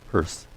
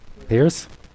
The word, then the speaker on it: Pierce: I'm told that it is pronounced Pierce. Yeah. Pierce?